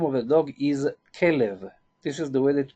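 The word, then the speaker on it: כלב: In Hebrew, the name of a dog is Kelev. This is the way that we pronounce it. Kelev, that it means Kelev, as a heart.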